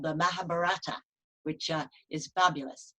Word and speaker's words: Mahabharata: We have the I Ching from China, for example, and a wonderful Indian epic called the Mahabharata, which is fabulous. You pronounced that correctly.